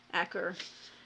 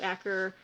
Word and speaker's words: Acre: end of the Crusades every time I see that I see like acre but it's I've heard it pronounced Acker anyway I'm at the